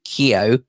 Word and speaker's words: Kyo: Ho Rengi Kyo rhymes with Tokyo.